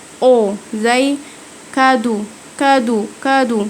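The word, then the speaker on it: cadeau: الاي اي يو والاي يو بينطقوا او زي كادو كادو كادو نطقت الاي اي يو او معناها هديه كادو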